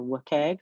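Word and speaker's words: WCAG: meets or exceeds um web content accessibility guidelines or wike which is often how that's pronounced this is a simple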